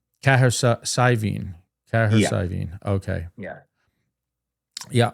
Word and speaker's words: Cahersiveen: And how do you Arguably pronounce the that best town pint. again? I've been saying Cahersiveen. Cahersiveen.